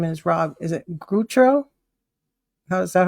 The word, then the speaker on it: Gutro: John Covey and Rob Gutro. Did I say it right? You did. Like guts, Gutro. That's right. Yeah. It's a massacred French name, so Hey, mine too.